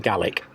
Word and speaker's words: Gaelic: So, every time we say Gaelic, please correct us and shout at the screen because we should be saying Gaik.